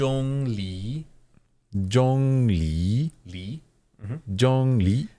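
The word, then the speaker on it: Zhongli: but pronounced J Le Jong le le mm Jong Le the second tone Rising tone is sort of like you're asking a question The The J Jong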